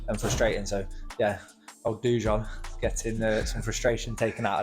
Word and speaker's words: Dujon: How do you process that stuff going into a fight like this Friday against Jordan Dujon? Is that how you say his name? Yeah, Dujon. Yeah. Dujon. Yeah. Like the mustard.